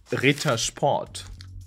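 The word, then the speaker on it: Ritter Sport: chocolate brands which is Rita spot Rita spot and by the way the word Rita means denied in English and who didn't like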